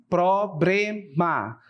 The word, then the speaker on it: problema: Observem que esta palavra aqui, a pronúncia dela não está OK. A pronúncia é problema de acordo com a norma, certo? Então observem que não temos um R na sílaba B bré, né? Nós temos um L. Seria aí a forma correta.